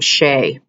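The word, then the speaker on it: Shae: am going to have you practice the name Shay and it is spelled s h a e and I want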